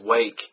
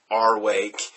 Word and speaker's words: Rwake: sludge metal and yes their name is pronounced wake and not our wake and there is a